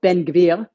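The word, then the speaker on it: Ben-Gvir: was focused on uh Ben gevir which I pronounced in the article in this article Ben gevil with the Israeli uh way of saying it because it didn't I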